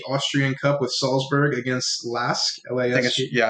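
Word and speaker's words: LASK: cup with salzburg against lasque yeah i think it's larry just pronounced l-a-s-k yeah l-a-s-k uh he had a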